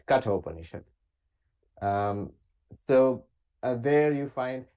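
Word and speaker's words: Katha Upanishad: all the others so the Kato panishad for listeners is spelled k-a-t-h-a right cut openership um so there you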